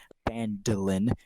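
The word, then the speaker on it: Phandalin: Times were good, and the nearby human town of Fadalin, pronounced Bandolin, prospered as well.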